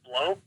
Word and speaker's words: Blough: I guess that's how you say his name, David Blough?